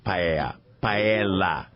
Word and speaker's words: paella: There's an L, paella. Paella. Okay, very good.